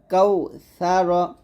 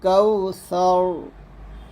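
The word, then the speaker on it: كوثر: সা র জবর র কাউ স র এখানে এই সা টা যখন উচ্চারণ করবেন একটু সতর্ক থাকতে হবে যেন জিহ্বাটা নিচে দাঁতের সাথে না লাগে জিহ্বার আগা উপরের দাঁতের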